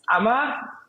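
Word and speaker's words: Amager: the airport which is Amma any guesses on how that's spelled it's a m a g r so the G the g is silent um and there are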